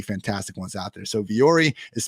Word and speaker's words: Vuori: I do think Viore, based on my experience, trying to find the right hat, has some pretty fantastic ones out there. So Viore is spelled VUORI, and they have a fantastic